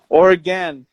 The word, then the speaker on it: Oregon: Do you guys pronounce it Oregon or Oregon? Oregon. There you go. Yeah, that's how it is.